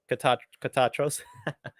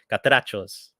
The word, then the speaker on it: Catrachos: Sorry, Catachos. Wait a minute, I'm saying it wrong. Catrachos. I gotta say it with my Spanish voice.